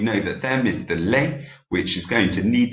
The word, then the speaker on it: les: But on this occasion, we do pronounce the S on les because it's followed by a vowel. So je les aime.